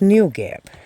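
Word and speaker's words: Neels Gap: call neil gap nilsgap no it's nilgap not neal's it's neil nils neil nail gap but georgia is from georgia and she says it's nils gap so you know maybe that's what the locals say but on the map if you get technical on the map and like in all the map books and all this stuff like that there's no s in there it's just a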